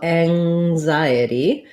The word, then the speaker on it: anxiety: pronounced as g um so anxiety um it is voiced so in anxiety we have the um vowel a like black cat then the letter n says the ng sound so thinking about like